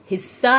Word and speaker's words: हिस्सा: सभी बोलिए मेरे साथ हिस्सा हमने अध स के ऊपर थोड़ा जोर दिया है क्योंकि यह हिस्सा नहीं है हिस्सा है जिसका अर्थ होता है